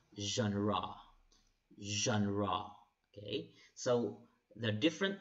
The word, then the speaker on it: genre: of literature okay people pronounce this genre others gender but it's pronounced as genre say genre genre okay so the different genre of literature